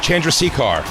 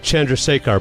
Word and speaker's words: Chandrasekhar: Chandrasekhar.